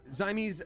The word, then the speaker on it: Zamese: Um Zamese uh let's see here says like the Siamese breed of like cat. Okay, got it. So I'll say it I'll say it like that then.